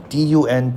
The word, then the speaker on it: dun: 好，呢一節讀完啦，發現咗有啲嘢喎，係咪一個龐然嘅猛獸呢？定係其他嘢呢？每一個人呢？會係啲乜嘢嘢呢？咁作者咧會用 Great Ape 去形容佢啦，猩猩去形容，咁但係就唔確實嘅。喺呢一個尋找猩猩啦，或者重燃螢火嘅過程咧，再次都出現 Ralph 同 Jack 之間嘅鬥爭啦。嚟到呢一個位，我覺得家常便飯啦，佢兩個經常咧都會起一啲爭執、一啲口角，跟隨住佢哋嘅人咧都習慣㗎啦。咁 Simon 呢一刻咧就走咗去揾阿 Peggy 啦，因為 Peggy 自己一個睇住啲 Litlins 咧入黑咧，佢應該都搞唔掂㗎啦。睇下呢一節有啲咩字同大家分享先。Dun D-U-N Dun 係一個形容詞嚟嘅，有啲解釋啦，譬如 a dull greyish brown colour 或者 dark or dusky。雖然佢係串 D-U-N，但係個讀音咧就係 D-O-N-E 咁樣。Dun Crestfallen adjective sad and disappointed。嗰個